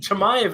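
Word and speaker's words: Chimaev: i don't know that's what i call it shamaive is definitely the way you pronounce it do all three of us agree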